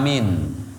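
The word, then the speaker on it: آمين: cara Lirih dan bacaan Amin ketika imam waladholin kita disunahkan membaca lafadz amin amin ini hati-hati itu bacanya harus pakai Hamzah bukan pakai hak kadang ada yang Amin maknanya beda nanti ya amin Ai istajib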